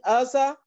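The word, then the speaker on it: Uzziah: In the year that King Uzzah, is that how you pronounce it?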